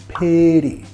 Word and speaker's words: pity: What a pity. Pity. Enfatizando la primera sílaba de la palabra.